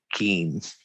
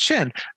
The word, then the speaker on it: Qin: you didn't call it keems because i have no idea how to pronounce that oh okay no no uh it's it's just chin but uh oh yeah